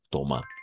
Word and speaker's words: Thomas: Thomas. La S no se prononce al final.